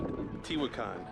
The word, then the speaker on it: Teotihuacan: It's Teo Teotihuacan.